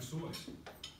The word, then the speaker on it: Seuss: They're signed with all these made-up, strange names like Dr. Soyce. And so that's how he pronounced the name. That was his middle name. His name was Theodore Soyce Gazelle. We know him as Dr. Seuss.